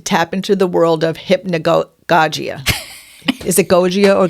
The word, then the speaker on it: hypnagogia: it hypn so I think the way you pronounce that is hypnosia okay hypnosia okay I meant to look it